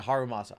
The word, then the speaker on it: Harumasa: And or Did I say it? Yeah, Harumasa. I knew I said it right.